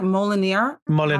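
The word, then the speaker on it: Molinere: Molinaire, yeah.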